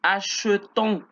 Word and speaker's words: achetons: Y aquí es nous achetons. Ya no pronunció la E, sino E.